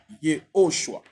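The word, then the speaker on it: Yehoshua: pourquoi nous insistons toujours il faut prononcer le nom Yoshua parce que je vous ai démontré dans le nom Yhoshua il y a Yod et Shin va c'est ce que nous avons.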